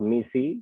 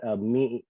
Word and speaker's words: MECE: Look up MECE. It's a management consulting word. MECE. It's pronounced MECE, like I said, which talks about these building blocks really being mutually exclusive but collectively exhaustive.